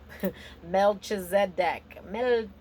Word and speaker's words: Melchizedek: Melchizedek.